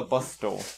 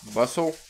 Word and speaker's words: bustle: hustle on with a bus dole bus no bustle bustle it's a silent T Spencer bustle it's a